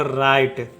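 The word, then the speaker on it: right: हम लोग नहीं करेंगे जी एच यहां पे साइलेंट होगा जैसे देखिए आर का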